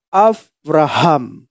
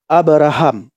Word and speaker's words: Avraham: Benarnya yang mana, Bang Pendi? Apakah Abraham atau Avraham? Benarnya Bapak Ibu, Avraham. Dalam bahasa Ibrani, bukan Abraham, Avraham.